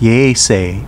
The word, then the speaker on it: Yaese: Yaese Town, pronounced Yeese in Uchinaguchi, was formed in 2006 with the merger of two towns, Kochinda and Gushikami, pronounced Kuchinda and Gushichang, respectively, in Uchinaguchi.